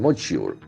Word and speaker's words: module: Vikram lander separates, doesn't it, from propulsion module. See, this word has got a beautiful pronunciation, J sound. Module.